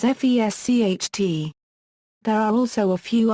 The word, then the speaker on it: Fescht: As in other Alemannic dialects, the pronunciation of S before T, and P is pronounced as FESCHT.